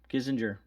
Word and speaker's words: Kissinger: just check it out it says kissinger introduced kazinger kissinger yeah that's how you say it one of